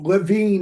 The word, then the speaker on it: Levine: Did I pronounce that correctly? Levine, actually.